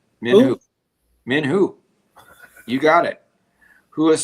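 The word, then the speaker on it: Min Huh: I'm pronouncing that right. Min Hu.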